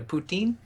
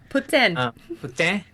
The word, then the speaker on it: poutine: uh they eat the how do you say the poutine puten that's not right yes it is now